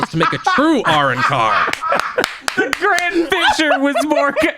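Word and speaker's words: Arrancar: I don't know how the original dub says it, but in the US dub it's pronounced Arankar, just so that way we don't get through the whole episode without me noting.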